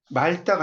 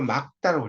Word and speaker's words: 맑다: 자, 페이지 106페이지 그 7번을 보시면 맑다가 아니라고 했죠. 막다라고 했잖아요.